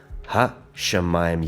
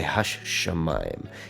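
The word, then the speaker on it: הַשָּׁמַיִם: Instead of saying ha shamayim, you would say hash shamayim. You almost pronounce the shin twice, right?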